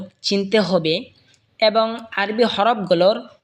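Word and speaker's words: حاء: জিম জিহ্বার মধ্যখান তার বরাবর ওপরে তালের সঙ্গে লাগা উচ্চারণ হবে জিম। এরপর এটা হলো হা। হা হলকের মধ্যখান হয়তো উচ্চারণ হবে হা।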